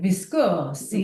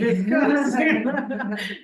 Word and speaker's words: Viscosi: It's say it like an Italian, Viscosi. Viscosi.